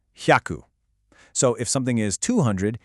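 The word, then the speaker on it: 百: The kanji is pronounced hyaku.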